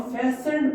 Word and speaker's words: fastened: फैसेंड, इस लफ्ज को हम फैसेंड पढ़ते हैं, FASTENED। इस पे टी साइलेंट होता है।